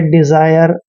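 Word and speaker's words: desire: हैं उसको नेक्स्ट है डी मतलब डी का उच्चारण डे करना है और ई को ई की मात्रा पढ़ते हैं और एस का उच्चारण यहां पर ज करना है ठीक है ज क्योंकि जब भी ए से पहले ई होता है और एस के बाद आई होता है तो एस का उच्चारण ज करते हैं और आई आर ई को आयर पढ़ना है डिजायर डिजायर होती है इच्छा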